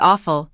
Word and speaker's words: awful: Make sure you finish with that L sound, even if it's soft.